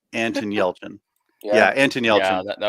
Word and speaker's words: Yelchin: And Desiree Bouters, is that how you pronounce it? She says Anton Yelchin.